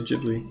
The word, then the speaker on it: Ghibli: Did you say Ghibli? That's how they say it. That's how they pronounced it in the Studio Ghibli museum in Japan.